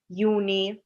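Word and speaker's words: Juni: For example, জুলাইকে আমরা বলি ইউলি, জুনকে আমরা বলি ইউনি, বা অগস্টকে আমরা বলি আউগস্ট।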